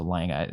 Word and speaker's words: Lange: People always keep correcting me on that, but I'm pretty sure it's Jessica Lange. Except previously I said Lange, I think, but it's Lange, right? You don't pronounce the E.